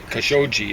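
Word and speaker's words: Khashoggi: kasogi kosogi kashogi is what they say that's one of the troubles with Arabic of most of the places where they originally had a G, they pronounce it like a J.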